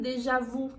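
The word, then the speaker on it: déjà vu: vi simples assim então é muito comum que as pessoas falem deja-vu Dejavu não é incorreto mas é um pouquinho diferente da pronúncia oficial da língua francesa aqui oo ele não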